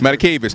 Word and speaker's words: Matakevich: I can never pronounce his name, number 8, the linebacker. Matakevich, Tyler Matakevich.